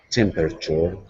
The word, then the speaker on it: temperature: you repeat temperature temperature temperature temperature yeah it's almost a three syllable temperature temperature tempor temporary look